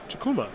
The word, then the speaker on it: Chukwuma: Benedict Chukwuma, the W is silent, is going to win game number 1 here over Jonathan Job.